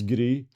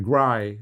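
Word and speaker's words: Gry: And then you have Odd and they look at Gr. They say Gr. No, no, it's Giri.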